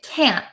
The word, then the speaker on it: can't: So a lot of Americans don't pronounce the T's at the ends of words. So can, C-A-N, can, and can't, we often say can't, can't.